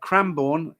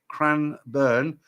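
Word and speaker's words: Cranbourne: Uh, Cranborn is pronounced Cro Cranburn. Burwick is pronounced Burick.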